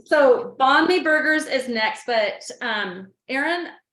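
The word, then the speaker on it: bánh mì: How do you pronounce that? Banh mi? Banh mi.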